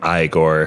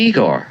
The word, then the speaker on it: Igor: You must be Igor. No, it's pronounced Igor. But they told me it was Igor. Well, they were wrong then, weren't they?